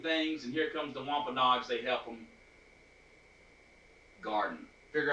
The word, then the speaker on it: Wampanoag: just a uh just a second but the wampanoag native americans say it again wampanoag say it one more time wampanoag nice i'm considered want this so here we